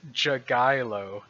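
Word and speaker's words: Jagielo: His name is Jagailo. That's how you pronounce that guy's last name. I Googled him, and I looked up 4 different videos of 4 different announcers pronouncing his name, and they all said Jagailo.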